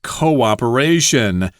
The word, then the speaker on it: cooperation: Thank you for your understanding and cooperation. Now, I've heard this word pronounced uh incorrectly many times. I think a lot of people here in Taiwan have problems with the double O there. Cooperation.